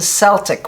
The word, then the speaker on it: Celt: Part of it comes from pronunciation, Celt or Celt. It's all fine. It's pronounced different ways in other languages too.